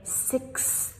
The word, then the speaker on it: sixth: sixth sixth Again, this one's super tricky because of the x and then th. So, slowly we say sixth.